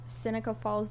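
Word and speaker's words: Seneca Falls: Um and that was in Synica Falls, New York. Is that how you pronounce that?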